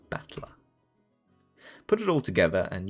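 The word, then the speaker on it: 戦人: The problem is my given name that is made up of the characters for the fight and person and is pronounced battler.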